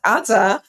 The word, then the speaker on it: Adah: Please welcome Adah, pronounced Adah Parris. I did it right.